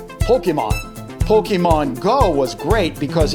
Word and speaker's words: Pokémon: If you pronounce pocket monster like a Japanese speaker would, it becomes Poketo Monster. Keep the poke and the mon and get rid of the other letters and you get Pokemon.